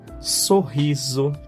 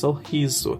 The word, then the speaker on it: sorriso: Look, it's not sorriso, it's sorriso, sorriso. S in the start we have two SO, SO, SO. On the start, so, and in the end, zo. So, the same syllable with two ways to pronounce.